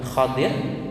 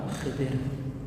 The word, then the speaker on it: Khidir: Ya, bisa bacanya dua, Khadir atau Khidir.